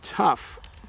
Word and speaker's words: tough: as F sometimes like sometimes if you use the word though I'll put it in the chat though there's no sound at the end but if I say tough there is one so I know that's